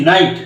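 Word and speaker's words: knight: এটার এরকম অর্থ দেয় দেখো এই যে নাইট কে এন আই জি এইচ টি নাইট দেখো তো এখানে কিন্তু এই যে এন টা কিন্তু নো এর মতন উচ্চারণ হয়েছে কে এন টা রাইট এভাবে কিন্তু তোমরা কিন্তু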